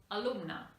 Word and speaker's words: alumna: the vowel changes but in this case the pronunciation is exactly the same because this is an unstressed vowel and therefore e and a have the same neutral sound another example would be